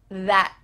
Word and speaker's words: that: Do you notice that final T here? I hope that you do. I hope that you can say this now naturally with me, your tongue at the top of your mouth, stopping.